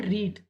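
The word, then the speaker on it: read: है इसकी, ठीक है, रीड, पढ़ना, ठीक है। फर्स्ट फॉर्म इसकी रीड हम पढ़ते हैं, लेकिन सेकेंड और थर्ड फॉर्म को हम रेड पढ़ते हैं, ठीक है।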